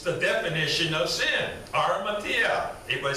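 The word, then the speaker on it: ἁμαρτία: Armatia. Anybody say that? Armatia. Armatia, okay. Some people will add an H to the beginning, harmatia, but the H is silent.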